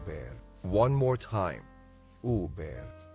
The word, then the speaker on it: Huber: or focal point let's say it all together oo bear oo bear o be one more time oo bear o be o be thank you for joining